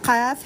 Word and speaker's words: قاف: یہ قاف ہے، قاف، قاف. اور یہ ہے کیف، کیف. یہ سمپل پڑھا جاتا ہے اور یہ اسٹرانگ وائز میں پڑھا جاتا ہے کیونکہ حروف مستعلیہ میں بھی ہے، تفخیم بھی کہتے ہیں اس کو، اور موٹے حروف میں بھی شمار ہے. قاف قاف، اور یہ ہے کیف، باریک پڑھا جائے گا.